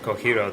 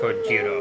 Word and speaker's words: Kojiro: I don't think that name would be pronounced Kohiro, though. True. I mean, in Japanese, a J is like J, Yeah. isn't it? Shahiro. Yeah, sure. Or Like something. Kojiro, I think it would be.